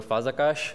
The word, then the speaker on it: Fazekas: to hello everyone my name is fahza cash or Fazekas as most of you would likely pronounce it and this summer I'll